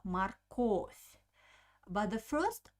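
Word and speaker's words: морковь: we pronounce it uh the second o is stressed so i pronounce a very clear o marcos but the first o doesn't have an accent i pronounce it like ah marcos marcotte and also pay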